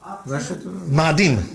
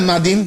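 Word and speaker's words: מאדים: How do you say Mars in Hebrew? Ma'adim. What is that Ma'adim? It means red. Ma'adim, red. Adom.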